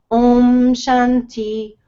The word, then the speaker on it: Om Shanti: with God okay and it's Om Shanti Om Shanti Om Shanti and I'm saying this to you guys so that you know how to pronounce it and then omam there's